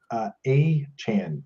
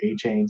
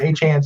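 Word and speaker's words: Achane: Are you starting Devin A-Chan is what the pronunciation.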